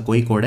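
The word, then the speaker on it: Kozhikode: सी Cozi कोड Kerala वैसे इसे कोई कोड बोलते हैं असली उच्चारण इसका कोई कोड है बट लिखते हैं कोजी कोड 25 जुलाई से 28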